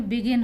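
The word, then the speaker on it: begin: बी ई जी आई एन बिगिन होगा, यहाँ पे बिजिन नहीं बोलते हैं।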